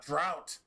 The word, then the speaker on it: drought: And then if if if it becomes dry and you get a little bit of drought, remember how drought rhymes with doubt?